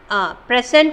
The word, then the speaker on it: present: As a verb, the word is stressed on the second syllable.